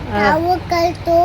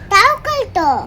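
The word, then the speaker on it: توكلت: தவக்கல்து அலா அல்லாஹ். அவள் புதிதாக என்ன சொல்கிறாள்? நான் 'தவக்கல்து...' என்று சொன்னேன். அதைச் சரியாக உச்சரிக்க வேண்டும். தவக்கல்து . 'தவக்கா' என்று சொல்லாதே. 'தவக்கல்து' என்பதை அழகாகச் சொல்லுங்கள்.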